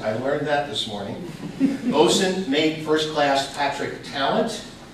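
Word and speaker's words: boatswain: we're privileged to have as our speakers today bosun I got a right now bosun mate and I pronounced it I learned that this morning bosun made first class Patrick talent and bosun mate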